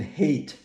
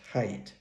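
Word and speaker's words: Haidt: mental illness by Jonathan hate oh I understand he actually pronounces his last name as height but uh anyway um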